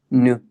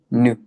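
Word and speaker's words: νῦ: Lo pronuncias como nu, ¿sí? Es como una U francesa, nu.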